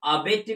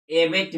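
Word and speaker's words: abet: ए बी ई टी, यहाँ पर इसको हम अबेट भी बोल सकते हैं और एबेट भी बोल सकते हैं, एबेट भी बोल सकते हैं। दोनों उच्चारण आपका सही होगा।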